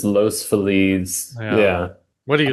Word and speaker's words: Los Feliz: There's no place in LA that has more confusion over its pronunciation than Los Feliz, Los Feliz.